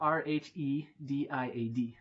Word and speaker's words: Rhediad: So Rhediad.